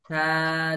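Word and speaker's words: ث: থা জবর থা, তা থা জবর জবর তা থা। খেয়াল করেন, খুব খেয়াল করেন। থা জবর সা এরকম বলা যাবে না, সা হবে না।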